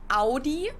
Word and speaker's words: Audi: Most Americans that I know Audi, pronounce it like I just said it, Audi. In German, we say Audi.